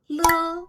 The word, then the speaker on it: 了: The third standalone character, le. Le is a very special and very frequent character in Chinese, and also the one gives beginners headaches. It actually has two pronunciations. The first pronunciation is le.